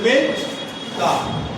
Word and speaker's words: মেজদা: তাহলে মেজ দা। মেজ দাদা, সেখান থেকে হলো মেজ দা। সেটাকে আমরা উচ্চারণ করি কিভাবে?